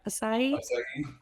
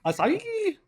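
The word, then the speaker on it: açaí: Akai. Aki. A c ai. I don't have You had it right the last time. Asai. Asai.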